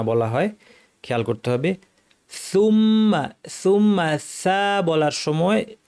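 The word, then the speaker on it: ثُمَّ: হয় খেয়াল করতে হবে সুম্মা সুম্মা বলার সময় জিহ্বার কিনারা দাঁতের শীর্ষ উপরের দাঁতের শীর্ষে লাগিয়ে দুই দাঁতের মধ্যে ফাঁকা রেখে উচ্চারণ করার চেষ্টা করতে হবে সু তাহলে উচ্চারণটা স্পষ্ট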